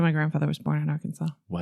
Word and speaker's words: Arkansas: from the United States, it's spelled like Kansas, but with an a r in the beginning. Yeah. Don't know why. Should be our Kansas.